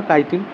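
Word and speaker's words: chitin: চিটিন বা কাইটিন যে যেরকম উচ্চারণ করে তারপর একলিঙ্গ বিশিষ্ট ইউনিসেক্সুয়াল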